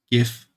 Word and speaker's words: GIF: I know that in English it's more likely to be pronounced GIF because the creator also called it that, but for a German like me it's pronounced GIF because there's a G in front and we don't pronounce a G as a J, we call it G.